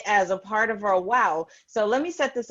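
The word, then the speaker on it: WAU: what's affecting us but it's w-a-u but it's pronounced w-o-w wow fancy fancy fancy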